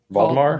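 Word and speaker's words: Waldemar: the baldir Wolfman wemore how do you say it vemar vemar yeah daninsky and uh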